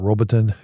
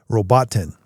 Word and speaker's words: Robotin: sees words and I I call it Robbiten. It's not Robbiten. Robotin.